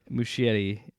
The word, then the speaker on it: Muschietti: Muschietti, I believe is how you say it. I could be mispronouncing it, but he did the It movies.